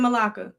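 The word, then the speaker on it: Malacca: Right here, straight of Malaa.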